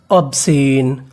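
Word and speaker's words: obscene: OB, इसे क्या पढ़ना है? ऑब। SCENE सेन। ऑब्सेन, अबसेन, अबसेन।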